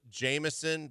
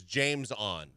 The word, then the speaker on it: JamesOn: played for the Bulls it was spelled Jameson but he apostrophy the ja and er the the the James and it was James on James on Curry always a really really fun one when you're doing a game and you want to call him Jameson you're like it's really James on yeah pronunciation guide comes